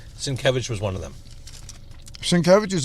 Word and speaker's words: Sienkiewicz: I kind of pronounced in my head, but I knew they were wrong. Sienkiewicz was one of them. Sienkiewicz is like Cher.